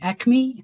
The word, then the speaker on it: ACMI: name I'm and I'm from ACMI or as we call it in Melbourne My pronouns are she